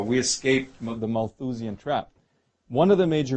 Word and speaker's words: Malthusian: with that term have you heard this the mole to Xion trap yes maybe I mispronounced it Malthusian trap that's right and then what happens that's